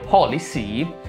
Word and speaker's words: HolyC: a metterlo pensato Tuttavia quando poi ho pronunciato ad alta voce Holy Sì mi sono reso conto che ha la stessa pronuncia di Policy scritto in questa maniera